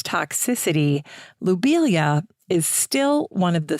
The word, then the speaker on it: lobelia: i used to say lobelia but now knowing the french pronunciation of his name i'm going to say lubelia instead subtle little change low versus lou but lou would be the more correct pronunciation after all the plant